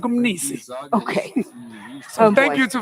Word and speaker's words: Mni: So Frank's surname is Mni, M-N-I. I say, I ask him, so how do I pronounce it? He says, no, it's just like Umnisi.